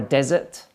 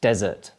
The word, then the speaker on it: desert: like your ice creams dessert desert okay listen again desert desert and the final one